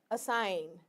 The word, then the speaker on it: assign: so here you see we are speaking as a l i n n align as s s i n assign okay this is a